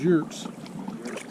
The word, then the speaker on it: yurt: I'm glad we got the upgrade of those yurts. It's spelled yurt.